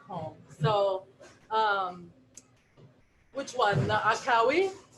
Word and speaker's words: Akkawi: The Akawi? Akkawi. Sometimes I've seen people spell it Ackawi.